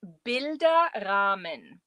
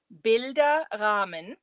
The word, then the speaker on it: Bilderrahmen: This is pronounced Bilderrahmen. That's one word. Bilderrahmen.